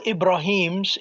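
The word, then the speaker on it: إبراهيم: All Ibrahims in Baqarah is spelled without the ya.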